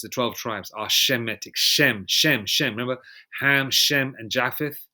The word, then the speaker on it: Shem: And incidentally, and also Shem or Sham, how you say it in Hebrew, Sham is a very common name in India.